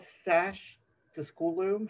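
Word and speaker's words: Schacht: I think it's this, is it called Sash, the school loom? How do you pronounce it, Claire? Oh, I think it's pronounced Shocked, but Shocked.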